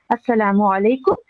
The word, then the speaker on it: السلام علیکم: Hello نہیں ہے، بلکہ السلام علیکم یا سلام علیکم، دونوں میں سے آپ خود بھی کہہ سکتے ہیں. پھر یہ دیکھیے کہ اس کا تلفظ بھی صحیح ہونا چاہیے ہمارا. السلام علیکم، السلام علیکم، السلام علیکم.